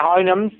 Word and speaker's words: Houyhnhnms: जैसा स्पेल है, इसकी प्रोनाउंसिएशन अगर आप पक्की कर लें तो आपको प्रॉब्लम नहीं होगा। स्पेल कुछ और आपको परप्लेक्स करते हैं। आपने सिंपल कहते हैं हाइनम्स, हाइनम्स, HOUYHNHNMS, हाइनम्स।